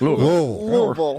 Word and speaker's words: Louisville: In Louisville, LUAHVUH. No, you got to say it like you got marbles in your mouth. Louisville.